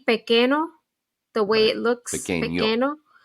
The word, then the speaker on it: pequeño: Pequeño. The N with the little squiggly sounds like a Y in English.